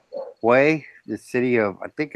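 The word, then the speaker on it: Huế: Oh, are you going to like Hue, the city of I think it's Hue, Hue, but it's pronounced like Way.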